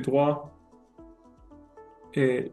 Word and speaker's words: droite: Si tu dis à droit à droit là je je vais je vais dans la maison tout droit. C'est attention attention à bien dire le e hein. Droite. Droit et droite.